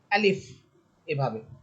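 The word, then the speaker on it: ا: তাহলে আমরা আলিফ হরফের মধ্যে দুইটা সিফাত পাচ্ছি। একটা হতেছে বাতাস বের করে পড়তে হবে। আরেকটি হচ্ছে শক্ত করে পড়তে হবে। আলিফ এভাবে।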